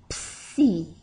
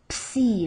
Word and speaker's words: psi: So, the object is to pronounce the P, the S, and the I all together. Psi. Psi.